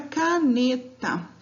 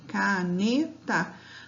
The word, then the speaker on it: caneta: Então, a palavra caneta. Qual a sílaba tônica dessa palavra? Caneta. Ainda não sei qual é a sílaba tônica, então eu chamo essa palavra, eu falo ela pausadamente, tá? E tento identificar, ó. Caneta. Chamei a palavra. Caneta. Qual que é a sílaba mais forte de caneta? É a sílaba ne, tá?